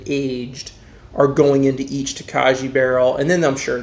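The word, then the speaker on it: Tokaji: it right unless google screwed me over it's takaji hungarian dessert wine now takashi is aged in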